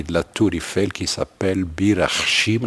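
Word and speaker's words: Bir-Hakeim: la Tourifel qui s'appelle Birim. Normalement, il est devenu Berakaim. Le français disent berak parce que c'est H, on prononce pas H.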